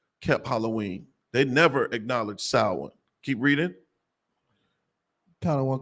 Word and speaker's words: Samhain: a Gaelic word pronounced Samhain.